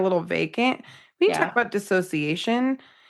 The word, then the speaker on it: dissociation: We talk about dissociation. It's not disassociation. You heard it here. Please say it right. Dissociation.